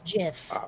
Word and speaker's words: GIF: for graphics interchange format yes it's jif it really is see the thing is the creator of the format said so and explained the reasoning behind it so you know people who insist no no it's gif have no idea what they're talking about um especially since okay